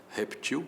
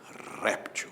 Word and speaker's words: réptil: mandando consultar a forma reptil sem acento se fosse com acento seria réptil né É por aí então